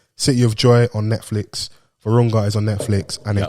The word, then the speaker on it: Virunga: And how do you pronounce that? Virunga? Yeah, Virunga.